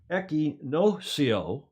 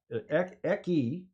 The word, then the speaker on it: Equinoccio: Equinoccio. It's not like Pinocchio. Equinoccio is how you pronounce that in Spanish, or at least in South American Spanish.